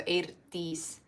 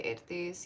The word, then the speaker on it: Eirdís: So EI is pronounced A in Icelandic, and then when you have the I with like the comma at the top, it's E, pronounced E. So Eirdís.